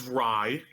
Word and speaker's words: Ray: well, first, I would like to say that his pronounced name is Rye.